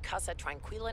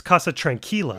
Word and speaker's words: Casa Tranquila: The Casa Tranquila (mispronounced) nursing home." Someone tell her it's Casa Tranquila.